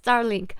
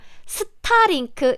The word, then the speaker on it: Starlink: Starlink in Korean pronunciation, because we don't have this R sound, so we often ignore it if this R is used at the end of a word, end of the syllable. Like star is just sta in Korean.